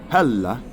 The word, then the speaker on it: Hela: So anyway, Hela is how you pronounce her name in the old the old Norse, maybe even in modern Norse.